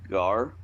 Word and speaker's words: gar: Alright, so for you or yours, it's Gar. Spelled G-A-R, pronounced G-A-H-R.